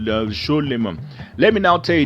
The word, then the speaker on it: Shlomo: From the modern Hebrew pronunciation in the Torah, Solomon is not pronounced as Sulaiman, if you must know.